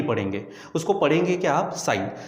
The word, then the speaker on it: sine: तो जैसे हमारे पास है पहला साइन, तो ध्यान में रखो कि साइन की पूरी स्पेलिंग है हमारे पास SINE, इसलिए इसका प्रोनाउंसिएशन होता है साइन, लेकिन लिखते समय बच्चों हम 3 लेटर का इस्तेमाल करेंगे, SIN, साइन। ठीक है, लेकिन इसलिए क्योंकि 3 लेटर है तो आप इसे सीन ऐसा नहीं पढ़ेंगे, उसको पढ़ेंगे क्या आप, साइन।